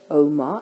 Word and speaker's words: oma: This is words with a short vowel ending, which means it ends on a short vowel, but the emphasis is on the first syllable. We say o, ma.